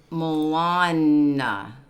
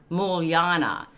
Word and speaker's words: Mulyana: This is Mulana. How do you say that? Mulyana? Mulyana.